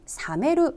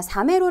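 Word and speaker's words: 冷める: 차가운 느낌 은 똑같지만 , 이렇게 쓰면 " 사메루 " 라고 읽힙니다 . 이 단어는 " 사메루 " 라고 읽으며 " 식히다 " 라는 뜻 입니다 .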